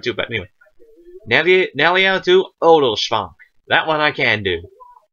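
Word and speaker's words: Oderschvank: Neliel to Odelschwank. Nel. E. L. To. O. Del. Schwank. Now that SHW is one syllable. Shv. Shv.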